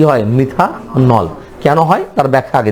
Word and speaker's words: মিথানল: নামের শেষে যুক্ত হবে অল। উচ্চারণ হবে কি? নল।